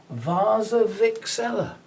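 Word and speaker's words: Warczewiczella: the english language w-a-r-c-z-e-w-i-c-z ella and apparently it's pronounced vasa vixela i've been reliably told hopefully by somebody who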